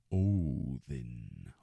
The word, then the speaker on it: Odin: in the name odin the d is pronounced like a th o then o then you're telling